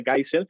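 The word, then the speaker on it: Geisel: bueno de otros gases gais o algo así se pronuncia kaiser pero al final del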